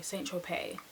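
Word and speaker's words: Saint-Tropez: Sorry, Saint Tropez. You don't pronounce the Z, honey.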